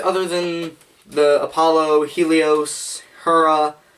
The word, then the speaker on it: Hera: They have fairly regular ergonomics other than the Apollo, Helios, Hera. Yes, I said Hera. It's actually pronounced Hera, but pronunciation is for nerds.